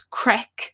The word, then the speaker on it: craic: do online courses so the name of this is crack CRA CK Irish pronunciation so that goes